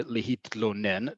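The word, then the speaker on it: להתלונן: That tla, that tough lamed sound is difficult. Lehitlonen. It's really important that you pronounce both the tough and the lamed.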